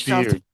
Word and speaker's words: Gestalt: I assume how do you pronounce it? Gestalt therapy? Gestalt.